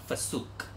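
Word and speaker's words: FCUK: This pair of brokes is from a brand called Fasuk. Do you guys know what Fasuk is? Okay, my friend actually pronounced it as Fasuk.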